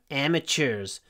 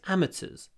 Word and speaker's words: amateurs: part in the race Americans say amateurs so they say CH amateurs in British English amateurs AMS sport is amateur